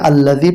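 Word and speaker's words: الذي: পড়বো পাঁচ নম্বর আয়াতটি এখানে এটাকে আল্লাজি পড়ার জন্য আলিফের উপরে মনে মনে একটি জবর নিতে হবে আর আলিফের উপরে জবর বললে উচ্চারণটা হবে হামজা তাহলে উচ্চারণটা হচ্ছে এই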